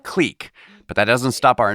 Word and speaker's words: Qleek: you and your comp's click click qle e e k oh yes the company is called click but that doesn't stop